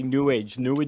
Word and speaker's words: New Age: I always say New Age, so it's one word and rhymes with sewage.